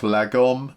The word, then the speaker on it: lagom: The Swedes have this thing, I think it's pronounced lagom, L-A-G-O-M.